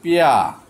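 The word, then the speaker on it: pear: তারপর হচ্ছে পেয়া, এটা পেয়ার আমরা বলি, কিন্তু এটা আমেরিকা এবং ব্রিটিশ উচ্চারণ করে পেয়া, মানে পেয়ার। পেয়া মানে নাশপাতি, আপনারা পিয়াটাই উচ্চারণ করবেন, পিয়ার না, পিয়া উচ্চারণ করবেন।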